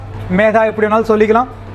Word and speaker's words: Medha: மைதா என்னென்னலாம் சொல்கிறாங்கன்னு தெரியல. என்கிட்ட சில பேர் கால் வரும், சார் மைதா கம்பெனி வேணும். நானே பயந்துடும், அப்பா என்னடா இது மைதான்னு சொல்கிறாங்களே. ஆக்சுவலி த ப்ரொனவுன்ஸ் Medha, எப்படி வேணாலும் சொல்லிக்கலாம்.